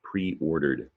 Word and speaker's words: pre-ordered: Don't hear the e in pre-ordered, but it's there. It's one of the rules about ed endings.